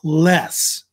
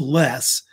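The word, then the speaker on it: loess: soil which is pronounced less like just don't use the o just just take it out Sil but it's usually pronounced less uh and um I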